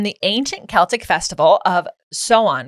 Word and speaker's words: Samhain: So Halloween originated from the ancient Celtic festival of Samhain, right? Samhain. No. In the thing we looked up, it literally said how to say it. Pronounced Samhain.